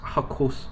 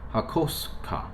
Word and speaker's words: Hakosuka: Like it's not Hakosuka as some people would do that. It's not, but it's not Hakosuka either. The SU still makes a sound, right?